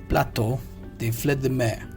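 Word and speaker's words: plateau de fruits de mer: The first one we have is Plateau, they fled the mare. See the pronunciation here?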